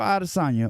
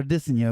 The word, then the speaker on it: Adesanya: Israel Adesanya, or Adesanya, because we all say his name wrong, versus Alex I be Pereira.